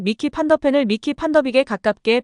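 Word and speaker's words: Van de Ven: 라고 질문하면서 손흥민에게 판더펜 이름을 말해줄 것을 요구했는데요. 뭔가 잘못됐다는 걸 깨달은 멋쩍은 미소와 함께 손흥민은 조심스럽게 미키 판더빅이라고 말했고 기자는 그는 미키 판더펜이라고 불러야 한다라고 지적했습니다.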